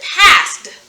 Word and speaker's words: passed: right pass plus ed pass plus ed pass pass it last night we pronounce it we pronounce it past in this instance we're using the past tense sound to spell the sound just about um for the eddies making the sound so past past but it's followed